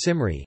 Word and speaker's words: Cymry: walnut the modern Welsh name for themselves as Simar II and comer II is the Welsh name for